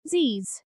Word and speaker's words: Z's: Remember that in American English, it is usually pronounced z's.